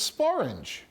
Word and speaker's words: sporange: The word that rhymes with orange is sporange, which was an alternative form of the word sporangium, a botany term which means spore case.